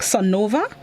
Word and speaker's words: Sonova: executive officer of sonova now make sure i have the pronunciation correct sunova i'm not you'll have that correct good for those of